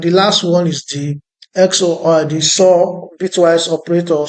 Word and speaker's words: XOR: So actually, don't mind how I'm pronouncing this as XOR. So the correct thing is XOR. So it's like an opposite of OR.